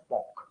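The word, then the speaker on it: pock: These are known as POC. P-O-C-K, POC. It is not P-O-X. It is P-O-C-K. What is the pronunciation?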